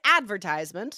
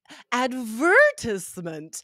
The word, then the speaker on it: advertisement: advertisement so fun yeah so us advertisement right first syllable stress but advertisement the stress on the second syllable again it sounds educated